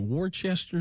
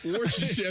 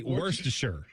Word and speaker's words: Worcestershire: Is it Worcester sauce? Worcestershire sauce. I can't say it. Worcestershire sauce. I've heard people say it. I've heard people say it. I always say Worcestershire.